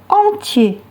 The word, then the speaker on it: entier: Entier, attention à la terminaison IER qui se prononce IE.